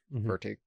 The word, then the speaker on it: Furtick: I can't pronounce his last name. What's his last name? Furtick? Furtick.